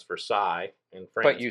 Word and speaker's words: Versailles: in germany oh uh ver ver sales is spelled the same as versailles in france but you